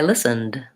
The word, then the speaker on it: listened: sound I listen I listened there's the e d sang the D sound ND listened I need